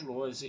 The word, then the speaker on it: Lohse: Meu canal no YouTube é o Carlos Eduardo Lose Rezende. Lose se escreve Lohse, Rezende se escreve com Z.